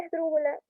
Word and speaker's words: esdrújula: La palabra esdrújula es esdrújula. Al separar en 4 sílabas, está en la antepenúltima su acentación y por lo tanto es así.